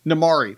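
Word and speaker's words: Namaari: even the fact that her is it namari namari thank you I KN I was afraid I was going to mispronounce namari is just be like like these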